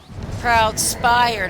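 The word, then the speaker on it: Proudspire: So this Proud Spire, not Shire.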